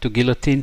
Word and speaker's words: guillotine: I should know it, but unfortunately, in English we of course say guillotine. How do the French say it? Guillotine! Right? So let's see. Guillotine in French. Let's say that's English. Sorry, I'm getting distracted. Yeah, in French it's guillotine. Yeah, and you know, I love the intonations. The French say guillotine. Guillotine, so the n gets a little stressed.